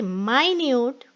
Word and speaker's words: minute: of 60 seconds but when i say minute it means extremely small okay and the next